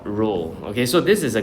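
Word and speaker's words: rho: um over here you use the symbol called ro. Okay. So this is a Greek symbol. Um it's pronounced as ro h o.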